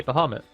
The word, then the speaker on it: Bahamut: of the ni snake baham or Bahamut depending on how you want to pronounce it the official pronunciation B well you can pronounce it like that I say bamit bamit so yes there